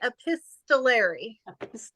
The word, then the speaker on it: epistolary: yeah so yeah so think of the Epistles in the Bible right letters by Paul and say epistolary I'll remember that for